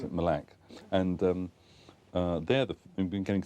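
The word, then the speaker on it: Mille Lacs: We went to a place called, we would say Mille Lac, but they pronounce it Mille Lac.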